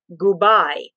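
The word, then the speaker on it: gubai: heck is that and if you pronounce that phonetically in italian it was goodbye no goodbye goodbye so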